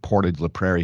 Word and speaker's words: Portage la Prairie: yeah it's act that most people pronounce it Portage la Prairie here kind of anglicized it but you you're correct